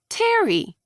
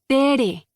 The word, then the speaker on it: Tere: "Aw, Terry." "No, it's Tere." "No, it's pronounced Terry." "It's pronounced Tere." "No, watch my mouth. Terry. See? No, it's Tere. It's always been Tere.